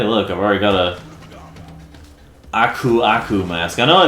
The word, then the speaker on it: Aku: Oh, hey, look, I've already got a Aku mask. I know it's technically the right way to pronounce his name is Aku, but come on now.